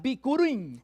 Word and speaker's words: bikurim: from a Hebrew word que se pronuncia bikurim. that is pronounced bickering. Bikurim.